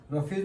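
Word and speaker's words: roughage: दूसरा नाम है रफेज रफेज में बीच में स्पेलिंग में ओ ओ यू जीी एच है यूजी एच इसका प्रोनंसिएशन क्या है पी एच वरना उसको पढ़ेंगे तो राघे समथिंग कुछ हो गया but English is funny language तो यहां पे क्या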